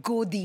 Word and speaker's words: godi: that's applied for it it's called GOI media M rhymes with Modi godis Bic B basically